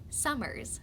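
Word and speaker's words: Somers: a town called summers you say it like summers like the season my favorite place in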